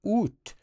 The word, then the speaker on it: ut: língua francesa que preservaram a sílaba ut pronunciada UT.